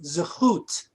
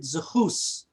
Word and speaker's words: zechut: The word is zechut. And in the old country, they would pronounce it zechus.